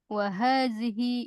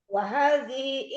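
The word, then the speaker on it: وهذه: Wahadhihi ada hi-nya. Wahadhihi. Jadi bukan wahadhi, bukan. Wahadhihi gitu. Karena hi-nya di sini nanti ada hi-nya panjang. Maksudnya hi-nya jangan dibuang, jangan wahadhi enggak.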